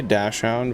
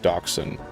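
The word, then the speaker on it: dachshund: really mentally rearrange that they say dashound but it's actually pronounced docen I believe um but I don't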